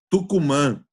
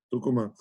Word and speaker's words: Tucumán: falar que ele nasceu em tucumán Tucuman ela é a pronúncia em espanhol mas foi muito bom